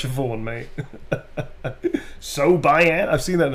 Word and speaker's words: Siobhan: That's actually Siobhan, not Sobihan. There's a lot of people go, Sobihan? It's like, no, it's Siobhan, mate.